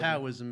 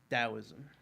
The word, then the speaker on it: Taoism: Yeah, or Taoism. Taoism, if you feel like mispronouncing it like I did last episode. I mean, apparently it starts with a T, but that was like a horrible yes.